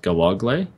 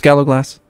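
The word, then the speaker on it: gallowglass: how to pronounce this gallog gallog glass whatever we're going to take that there's no s in there I know I've been told multiple times it's Gallow glass you're saying a i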